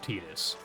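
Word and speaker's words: Tidus: You also have to know that it's pronounced Tetus.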